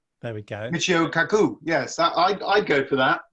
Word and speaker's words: Michio Kaku: I don't know how to pronounce that. Should I zoom in? Yeah, That's his name. there we go. Michio Kaku, yes, I'd go for that. Michio Kaku.